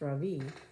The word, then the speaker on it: Ravi: not ravi but ravi so my first name is pronounced ravi with a soft raw and a strong v in sanskrit it means the sun in america people call me ravi with the stress on the first syllable you know that doesn't